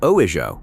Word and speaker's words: ujo: The first is ujo, pronounced oijo, meaning clean, pure, right, properly ordered.